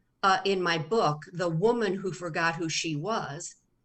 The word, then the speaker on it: Womun: to w-o-m-u-n so the almost like human yeah yeah yeah and